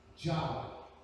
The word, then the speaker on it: Yahweh: ¿Cómo se pronuncia ese nombre? Yahweh. Esa es la palabra que está usando ahí. Yahweh.